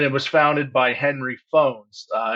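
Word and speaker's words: Fownes: was founded by Henry phones uh it's spelled f NES but it is pronounced like telephone uh Henry was a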